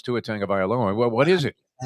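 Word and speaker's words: Tagovailoa: Lee Steinberg told us it was Tangga Violoa. No, he said it wrong because everyone since him has said a totally different There is no N in there.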